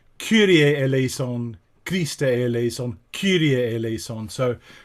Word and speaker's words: Kyrie eleison: introducing it like that but just remember that pronunciation curier el aison crista elles on curiel so right from the